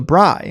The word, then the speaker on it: braai: It says, in South Africa, we call barbecue braai, pronounced guy with BR. Oh, so braai.